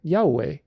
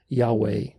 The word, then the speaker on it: Yahweh: Therefore, the correct pronunciation is Yahweh. Yahweh. There's no ch, there's no guttural, it's all vowels, which is very, very important.